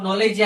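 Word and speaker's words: knee: যেমন নলেজে আমরা কে উচ্চারণ করি না।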